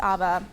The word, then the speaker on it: ABBA: favorite 70s band mine's Abba oh okay hence the username you guys rock boot me please okay one two three I like your Harmony awesome is amazing but I think it's pronounced ABA just saying sorrya yeah pronounce